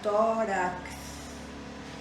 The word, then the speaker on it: tórax: Aqui para pronunciar seria tórax, tórax, com C e o S.